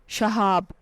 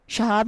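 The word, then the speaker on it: Shahab: उर्दू मानी है दोस्त या रफीक नाम है शहाब स्पेलिंग है एस एच ए एच ए बी शहाब नाम के उर्दू मानी है रोशन सितारा नाम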